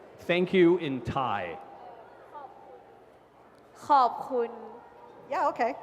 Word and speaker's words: ขอบคุณ: ขอบคุณ Yeah, okay. Carpool?